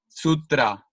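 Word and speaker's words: सूत्र: regarding the our because in English speakers usually you say like for example Sutra try like a suit suit FRA um young try you're gonna say in Spanish as a rolled R right it's like Sutra so it's less with our and it's more like Sutra so how is it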